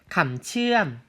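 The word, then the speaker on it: คำเชื่อม: 이런 케이스 같은 경우에는 이 가운데를 길게 빼준다라는 게 포인트인데요. 어떻게 되는 거냐면 츠암 아니고요. 츠암 이렇게 가운데가 길어진다라는 것을 포인트로 기억하시면 되겠습니다. 자, 다시 한번 발음해 볼게요. 감츠암이 되겠습니다.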